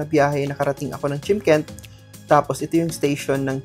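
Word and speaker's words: Shymkent: So Chimkent ang pronounce niyan. Spells like Chimkent.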